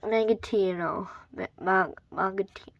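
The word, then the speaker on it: Mangosteen: So, easiest, Mangatino.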